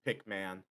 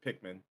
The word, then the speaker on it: Pikmin: I'm kind of focused on Smack, so saying I pronounce it Pikman when I said Pikmin. Hey, look. English is hard. Let's just leave it at that.